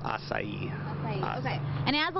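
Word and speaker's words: açaí: to how the heck to say it it's pronounced acai okay and it has a lot of benefits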